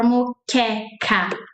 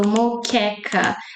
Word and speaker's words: moqueca: Mo caring. Do you know caring? The same sound for moqueca. So moqueca.